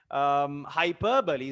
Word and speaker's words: hyperbole: it's quite prominent it's quite um different obviously hyperbole is the right pronunciation okay yes okay um his back was